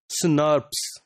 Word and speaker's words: snRNPs: These RNA protein complexes are called small nuclear ribonuclear proteins, snRNPs, or normally they are pronounced as SNRPs.